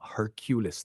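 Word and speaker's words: Hercules: ये एक आदमी के बारे में है जिसका नाम हरक्यूलिस था। इसका उच्चारण हेरक्यूलिस होता है।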